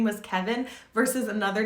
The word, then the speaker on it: Kevin: if your name was Kevin versus another name like Arthur. But it wasn't always this way, because Kevin, or Kevin as it's pronounced in French, was actually the single